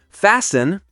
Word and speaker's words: fasten: Five. Silent T. Castle. Say castle. Listen. Say listen. Fasten. Say fasten. That's another tricky one. It's easy to think the T should be said, but it's not.